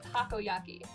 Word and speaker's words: takoyaki: Takoyaki. It's Japanese, like, festival food. I get it all the time at the restaurant near my house. It's like fried— yeah, it's how it's pronounced. It's takoyaki.